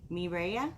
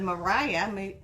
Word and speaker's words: Mireya: feeling how you doing you can pronounce my name like this mireya me miraya miraya okay instead of mariah mireya thank you maria